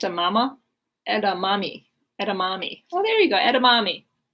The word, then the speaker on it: edamame: dishes and often eaten as a snack it's pronounced that's a mama and a mommy edamame oh there you go edamame the edamame threat